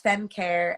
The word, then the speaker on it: FemCair: It's spelled FemCair, and it's FemCare, and their Instagram is amazing.